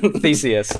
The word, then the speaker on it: Theseus: No, Theseus.